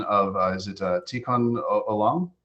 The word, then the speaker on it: Tikkun Olam: If you'll forgive me, if you could help me with the pronunciation of, is it Tikkun Olam? Tikkun Olam.